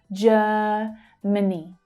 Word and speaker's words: Germany: Germany, many, Germany. The two second syllables are reduced and unstressed.